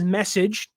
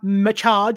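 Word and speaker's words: Meccage: Um, it is spelled M E C C A G E, but it is message. I'm saying it right. It's not mach or mach.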